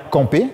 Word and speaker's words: camper: Alors, tu peux le dire à la française, je vais camper. Je vais camper. Nasale. Je vais camper. Mais tu peux aussi dire, je vais camper. C'est-à-dire, tu dis AM. Tu prononces le M.